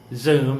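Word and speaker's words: Xoom: choose from remently wise Zoom that's spelled x-o-o-m and Western Union are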